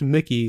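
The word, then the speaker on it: Mikkey: also said i think the drummer's name is pronounced Mickey like the mouse he's Swedish Mickey day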